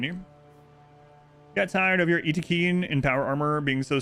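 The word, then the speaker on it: Yttakin: No, it's pronounced Itakeen because that's literally how it's pronounced in the trailer video.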